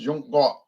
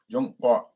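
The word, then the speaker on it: 中国: But the girl that was at the restaurant was telling me, no, it's pronounced Zhongguo. Guo means country. Zhongguo.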